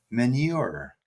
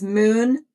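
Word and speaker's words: Meunier: The 16th of December is International Pino Manure. I'm so close this time. No, this is I've learned how to say it. This This is how you say it. It's moon.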